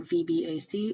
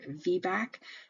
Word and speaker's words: VBAC: not pronounced it's not vbac it's pronounced as a word vbac is a vaginal birth